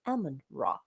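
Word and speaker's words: Amun-Ra: Amen. Or Amen. Amen, right? But the real pronunciation is actually Ammon Ra. In ancient Egyptian, you will hear it like this: Ammon Ra, right?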